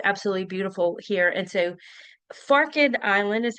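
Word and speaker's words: Forked Island: And so, Farid Island is how we pronounce that.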